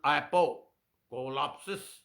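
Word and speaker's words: ἀποκάλυψις: उसका Greek word मैंने आपको भेज दिया है, एपोकोलिप्सिस, एपा कोलाप्सिस। एपो is the right word, right pronunciation. Apocolapsis.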